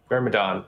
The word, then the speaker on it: Myrmidon: I don't know how to pronounce it. Myrmidon? Is that how you say it? yes. Myrmidon? Myrmidon.